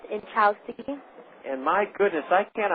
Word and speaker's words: Inchaustegui: It's pronounced Inchowski, INCHAUSTEGUI, and it's Basque from Spain.